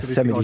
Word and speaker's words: Yosemite: Yosemite ist Yosemite. Die richtige Aussprache.